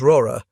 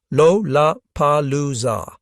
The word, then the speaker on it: Lollapalooza: An American slang term meaning something outstanding or extraordinary, it contains 4 L sounds in rapid succession at the beginning of syllables. Lollapalooza.